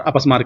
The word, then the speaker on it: अपस्मार: भी बोला जाता है मैंने यहां पर एक वर्ड लिखा है अपस्मार अंग्रेजी में उसको अपसमारा पढ़ा जाता है स्पेलिंग कुछ लोग अपस्मार